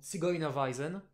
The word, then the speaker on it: Zigeunerweisen: alors, qui s'écrit comme ça en allemand, hein, Yes. que je prononcerai en allemand Zigeunerweisen.